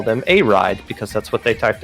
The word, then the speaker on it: Iride: versus uh I believe this is called a ride is how that is pronounced we asked the team for a clarification if it was I ride um but they said it was a ride but they weren't sure